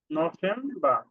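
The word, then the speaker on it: November: অক্টোবা অক্টোবা তারপর হলো নভেম্বার নফেমবা কারণ কি বি এর উচ্চারণটা প এর মত হচ্ছে নফেমবা নফেম্বার তারপর হলো ড্যাসেম্ব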